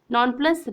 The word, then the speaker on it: nonplus: Nonplus rhymes with thus.